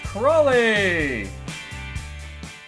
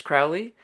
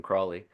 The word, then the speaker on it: Crawley: It gets mispronounced a lot. Like people just assume it's Crowley, Right, which kind of makes sense to me. Like there's a lot more cultural cachet with Crowley than Crawley. right.